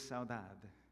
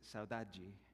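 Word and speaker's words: saudade: it turns out and the word is Saad if you're in Portugal If you're in Brazil it's Sai because the same language gets pronounced differently but Saad uh afg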